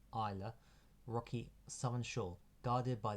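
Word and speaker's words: Islay: the SE on island proun prounce on island pronounced Isa Rocky Southern Shore guarded by the imposing ruin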